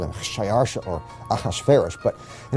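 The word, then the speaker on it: Xšayāršā: his name was xerxes his persian name in old persian which is his original native language is shayarsha that was hard for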